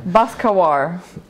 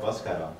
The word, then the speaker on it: Baskaran: Baskawar.